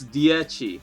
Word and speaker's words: Dieci: We'll go straight into Dieci. See, we had a little we had a little fun on stream learning to count in Italian. So yeah, it's Dieci. That's how you pronounce it.